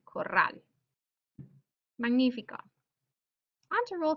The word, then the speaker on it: corral: Another example would be corral. You can hear the stresses here, corral.